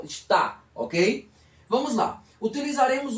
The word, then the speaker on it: está: A nossa dúvida aqui reside no estar com R e o estar sem R com acento, que a pronúncia é mais forte na última sílaba. Está, ok?